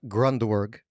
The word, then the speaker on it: Grundwerg: Today we have a very special guest, Sam Grundwerg.